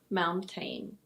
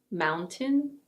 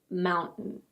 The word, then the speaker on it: mountain: No, it is not "moun-tayn". In British English it's either: mountain. Mountain. Or: mountain. Mountain. In American English it's also: mountain. Moutain. But in reality, a lot of Americans actually say "moun-en". "Moun-en".